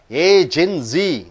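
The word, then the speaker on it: agency: ஏஜென்சி. மூன்று சத்தங்கள் வருகிறது. ஏஜென்சி. அந்த ஏ கழுத்தம் கொடுக்குறீங்க, ஏன்னா அது பெயர் சொல். பெயர் சொல்லுக்கு முன்னாடி வரக்கூடிய சத்தத்திற்கு, முதல் சத்தத்திற்கு அதிக அழுத்தம் கொடுக்கிறீர்கள்.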